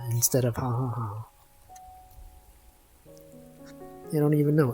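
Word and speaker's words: jaja: It's like when people say ja ja ja instead of ha ha ha. They don't even know. It's just spelled like that. It's not pronounced like ja.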